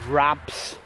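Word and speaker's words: Rapps: Ilton Holt was quite a short distance from the village itself, about half a mile on Chard Road, past Rabs, which is pronounced R-A-P-P-S.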